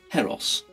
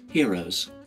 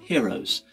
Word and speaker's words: Heros: I hispanic is because for quite some time I've been pronouncing it harrows however of course the inventor and maker of the pre selector one is Spanish and so I actually dispatched an email to his good wife Elizabeth and asked her exactly how they pronounce the pre selector and in fact they pronounce it heroes so to put that